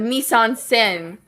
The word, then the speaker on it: mise-en-scène: And I think, the mise-en-scène.